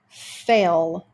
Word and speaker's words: fell: Some words end in double L's. If it sounds like ol, and the second L is silent. So in the word fell, even though there are two L's, we only hear the first L.